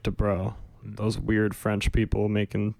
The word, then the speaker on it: Dabreau: it's a weird name to say, mainly because of how it's spelled. Yeah. It doesn't look like it would sound like Dabreau.